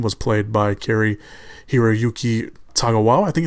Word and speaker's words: Tagawa: And of course Shang's son was played by Kari Hiroyuki Tagawa. I think it's how you pronounce his last name.